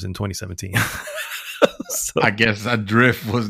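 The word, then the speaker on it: ADR1FT: It's a game called Adrift. And it's spelled for some reason with a number 1 instead of an I, Adrift.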